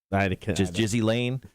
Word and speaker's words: Ghislaine: Ghislaine? Jizzy Lane Maxwell.